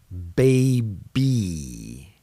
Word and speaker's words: baby: Baby, baby. It's making a long E sound.